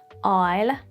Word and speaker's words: isle: We have silent S in some situations, like in island, isle, and debris or daybreak.